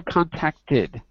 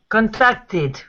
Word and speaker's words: contacted: Whenever there is a T at the end of a verb, the ED is pronounced tid.